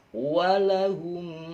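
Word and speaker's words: وَلَهُمْ: Tapi jangan lanya dibaca panjang, jangan. Nah, nanti dimarahin Pak Ustadz. Jadi walahum langsung ya. Jadi walahum adzabun azim.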